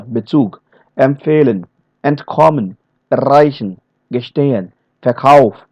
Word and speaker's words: Bezug: Okay, the verbal prefixes be, emp, ent, er, ge, fer, ser. These are the verbs, these are the prefixes which will never be stressed. Never. They are going to pronounce simply, the whole word is going to be pronounced like Bezug. No stress anywhere.